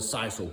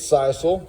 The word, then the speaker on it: sisal: And I think it's sisal, that's how I say it. It's called it's spelled S-I-S-A-L.